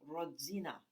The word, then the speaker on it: Rodzina: she'd give him gertie that's pronounced rodzina i interrupted making that sound between a d and a g and a z it seemed only polish mouse could make sort of like the g sound in bridge or cage or